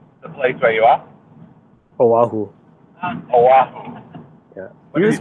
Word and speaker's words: Oahu: How do you pronounce the place where you are? Oahu.